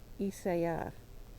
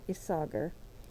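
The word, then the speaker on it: Isager: and she said that this is really isa that the R isn't pronounced. I don't know. It is definitely not isoger or iser isa something like that.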